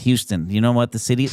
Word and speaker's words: Houston: If you lived on Manhattan Island, you would go to Houston Street. You wouldn't go to Houston Street and correct New Yorkers and say, well, actually, it's pronounced Houston.